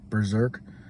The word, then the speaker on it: B3DRK: their sister patreon berserk berserk it's spelled b3drk but it's easier to say berserk than spell than say b3 zerk so uh yeah wicked